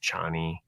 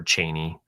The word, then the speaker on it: Chani: I mean, in the book, that character ends up being the father of Chani, or Chaney, depending on how you pronounce the name of her.